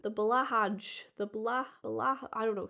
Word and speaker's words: Blahaj: Someone says it's blue high. It's blue high. Blow high. People say it's pronounced blow high.